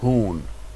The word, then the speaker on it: hún: Hún. Hun. So careful of these. Hann. Hún. Hun. And that you. Hún. Hun. That U is a long U sound, right?